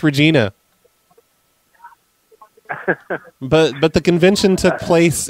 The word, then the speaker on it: Regina: Oh, no, it's pronounced Regina.